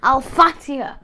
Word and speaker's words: Alphatia: What, how do you spell it? A-l-p-h-a-t-i-a. Alfatia.